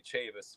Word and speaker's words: Chavis: last name correctly as well uh nobody actually pronounced our last name right I'm used to it it's actually Chavis but Chavis perfect well yeah I whole entire